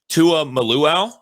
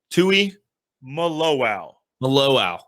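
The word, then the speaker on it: Tuimoloau: you taught me how it's said, but JT Tua Maluau? Tui Maluau.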